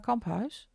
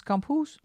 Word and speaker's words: Kamphuis: This is a book illustrated by Carla Kamphuis. So I think she's Dutch. Or you pronounce this as Kamphuis. But that's a Dutch last name.